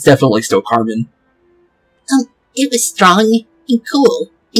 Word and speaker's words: Carmine: Translate to figure out the exact way you're supposed to say her name is Carmen. Even though Carmen normally would be an E-N, like Carmine, like how her name is spelled, is actually Carmen still.